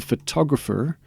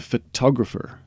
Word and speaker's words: photographer: Please notice that there is a difference in the pronunciation. A photograph or a photograph. American and neutral. Photograph or photograph. The photographer.